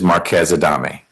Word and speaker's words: Marquez-Adame: Marquez-Adame. Wick Cawthorn for plaintiff. And am I pronouncing her name correctly, or should I say it different?